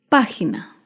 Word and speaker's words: página: Otro ejemplo de una palabra esdrújula es página. Página se acentúa en la antepenúltima sílaba.